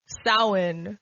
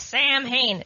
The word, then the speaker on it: Samhain: So, just like the pronunciation of Samhain for Halloween, Americans, it's Samhain. No. No, it's Samhain.